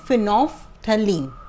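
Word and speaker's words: phenolphthalein: Chemical indicator आपकी book में सिर्फ एक ही है, फिनोफ्थलीन. इसको क्या प्रोनाउंस करते हैं? फिनोफ्थलीन.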